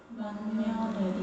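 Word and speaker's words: 맏며느리: 얘도 발음해보면 어떻게 돼요? 만며느리. 이제 니은으로 바뀐 거 인지돼요?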